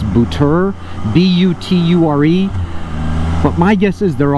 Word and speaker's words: Buture: The brand that I bought is, I'm going to mispronounce it. It's a Chinese company, but they never use Chinese company names, obviously. It's Buture, B-U-T-U-R-E.